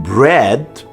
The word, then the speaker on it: bread: The A in bread, as well as in tread, does nothing.